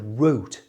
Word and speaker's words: wrote: The word wrote starts with a W, a w sound. And when a W is in front of an R, the W is not pronounced.